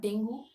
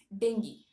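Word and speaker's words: dengue: is pronunciation okay so the actual pronunciation of Deni it's Deni not dingu not dingu it's dingi okay let's look at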